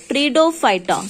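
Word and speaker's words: Pteridophyta: ट्रीडो पी इज a silent ट्रीडोफाइटा.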